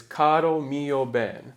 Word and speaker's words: Caro mio ben: So most of the time in Italian, the emphasis is going to be on the penultimate syllable. So that's The the second to last syllable is where it goes. most of the time. So the word caro, 2 syllables, mio, 2 syllables, and ben it should be bene, but for poetic reasons, they chop off the last letter. So then the emphasis would be on ben.